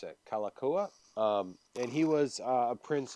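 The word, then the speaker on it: Kalākaua: It is the the Legends and Myths of Hawaii, written by His Majesty Kalakaua. I know I mispronounced that. Kalakaua.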